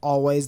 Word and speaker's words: Alvvays: For music, I have Always, and that's Alvvays, pronounced Always.